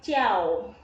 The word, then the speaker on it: 叫: Huruf J itu bacanya C. Jadi J ketemu I, A, dan O. Jadi bacanya jiao.